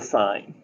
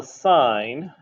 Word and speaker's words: sine: first one is the sign and officially the word sign is spelled out s-i-n-e although invariably we abbreviate it so it looks like sin you know this is